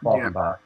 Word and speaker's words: Falkenbach: It's pronounced Falcon, the bird, Bach, the conductor, Falkenbach.